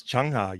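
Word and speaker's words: Chungha: Yes, Changha, yes.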